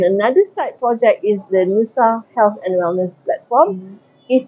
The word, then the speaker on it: Nusa: Nusa, actually Nusa is from the word Nusantara. So we like it to make it like 2 syllables. Nusa, easier to pronounce, easier to remember.